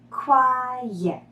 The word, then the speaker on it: quiet: Quiet is two syllables. The second syllable sounds exactly like the word yet. Yet. Repeat. Now add the first syllable. Quiet. Quiet.